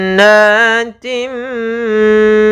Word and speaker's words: جَنَّاتٍ: Yaitu kita tahan dulu, cara membacanya adalah suara n-nya kita tahan. Nah, baru kita baca nat.